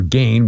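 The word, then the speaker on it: Gein: murderer and grave robber Edg or Gain we pronounce G E I N pronounced different ways.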